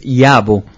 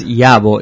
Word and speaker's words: Yabo: Yo, ¿cuál es el origen del apellido Yavo? Bueno, pues en realidad es Yabo. Yabo sería la correcta pronunciación, pero al haberlo escrito